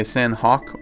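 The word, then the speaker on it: Sahnok: A lot of people say Sanhok or Sanhok, but it's Sanhok, S-A-H-N-O-K is how you pronounce it.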